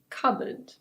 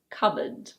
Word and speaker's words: cupboard: This word is: cupboard. Yes, the P is silent. In British English this is: cupboard. Cupboard.